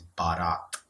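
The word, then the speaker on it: Baraat: And the right pronunciation for that word is Barat. So yeah, Barat.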